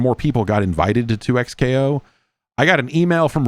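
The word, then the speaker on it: 2XKO: you played any any 2x KO?" I guess that is the right way to pronounce it. It is not double KO, which would have been a more fun name.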